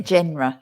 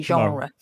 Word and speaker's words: genre: to pronounce it like but we don't say genre no we say genre so um so this